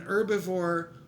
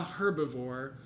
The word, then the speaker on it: herbivore: to know is that if you say uh then you have to say the h if you say un then you should not say the h so whether it's an herbivore or a herbivore i think you can